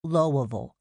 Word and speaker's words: Louisville: of Louisville, he said, pronouncing it Lowville, swallowing the last two syllables, as everybody around here did on both sides of the border with Kentucky.